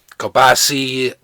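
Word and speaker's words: kielbasa: Kielbasi, that's just the way my grandfather pronounced it.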